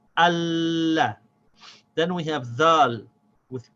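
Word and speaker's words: الله: So now I have to connect the alif to the lam. I say al. Then the lam has a fatha, so it gets pronounced la. So I have to say the al and the la without stopping the sound of the lam. We say Allah.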